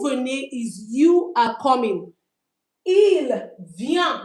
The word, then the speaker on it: ils viennent: Ils viennent, we don't pronounce the ent.